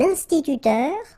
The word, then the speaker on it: instituteur: Un instituteur, okay, so liaison here, and then remember this E-U, it goes like with the R, instituteur.